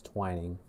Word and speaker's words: Twining: Still over Omer and Twining, if it's pronounced that way. Yeah, I see the Jer Bear in chat saying it's Twining.